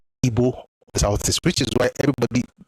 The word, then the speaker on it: Igbo: Igbo is quite beautiful. Igbo. Igbo, like B W.